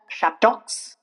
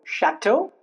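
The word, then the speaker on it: château: It's not Bordox. It's not Chatox. It's not fox, it's bordo, shadow, fo.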